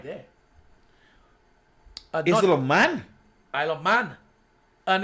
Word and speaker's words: Isle of Man: Easel of Man. Not man is king. I said easel of Man. Isle of Man. Oh, it's Isle of Man.